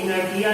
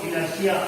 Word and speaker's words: inertia: INERTIA spelling के हिसाब से वो इनर्टिया लगेगा, लेकिन इनर्टिया ना पढ़ोगे उसको इनर्शिया होते।